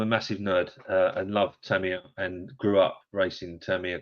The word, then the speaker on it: Tamiya: He said the correct way of saying it is Tamiya. You have to say it like that.